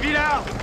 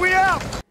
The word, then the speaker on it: Willard: Ainsi que certains noms de famille qui étaient prononcés à la française à l'époque et qui retrouvent leur prononciation originale. Capitaine Villard! Capitaine Willard!